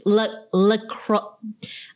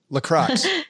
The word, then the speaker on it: LaCroix: It's LaCroix. I don't know how you make these French pronunciations. LaCroix. C-R-O-I-X. It's LaCroix. LaCroix?